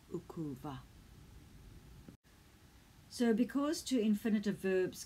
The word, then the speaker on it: ukuva: one syllable verbs that have a silent eye on the front in these scenarios the eye just falls away away and it becomes ukuva so because two infinitive